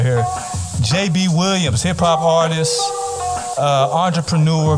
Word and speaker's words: Jabee: information yeah everything is at my name is JB and JB is spelled j-a-b-e-e um and that's how you can